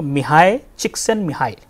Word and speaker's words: Csikszentmihalyi: It is pronounced somewhat like, you know, Mihai, Csikszentmihalyi.